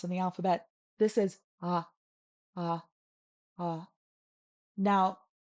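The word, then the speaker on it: ཨ: This is Ah. Ah. Ah. Now, this is hard because you think, oh, it's just Ah, but it's not.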